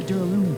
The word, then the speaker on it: Duralumin: Inside the Duralumin case Byakuya had with him during the party, Duralumin. That's how you pronounce it.